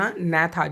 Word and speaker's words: Agnatha: So student you focus on a gnatha, G-N-A-T-H. Here G is the silent. So when you pronunciate then you never to pronunciate G word.